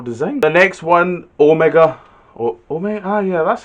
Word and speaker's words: Omega: Omega. Yeah, that's how you pronounce it.